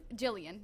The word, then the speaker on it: Gillian: Okay, so Gillian Oliver says, "I love Jillian. Jillian, there we go.